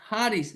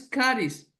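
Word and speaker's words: χάρις: Y y la palabra en griego a la derecha ustedes pueden ver es Haris, no es caris como algunos lo pronuncian, ¿no? Es Haris, como J.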